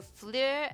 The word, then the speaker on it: fleur: for you guys so fleur as in like flair from harry potter if any of you